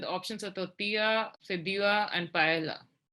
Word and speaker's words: paella: options are tortilla and paella sorry i'm supposed to be not pronouncing the elves there's a picture pictures